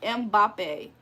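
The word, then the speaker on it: Mbappé: It's pronounced like Mbappe.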